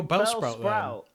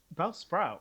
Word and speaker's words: Bellsprout: So, um, well, Bell Sprout. Bellsprout. Is it you, um, you put the emphasis on the second syllable?